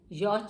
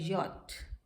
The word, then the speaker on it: yacht: यॉट नहीं होता, ये होता है यॉट.